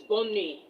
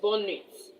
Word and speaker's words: bonne nuit: The T at the end of that nuit is silent. Bonne nuit, not bonne nuits.